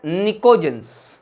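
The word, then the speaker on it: pnictogens: P silent है बेटे, these are known as निकोजेंस।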